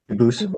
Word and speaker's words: Dubois: they do pronounce it Dubois, but you said you pronounce it Dubois. As the original Dubois. As the original French French.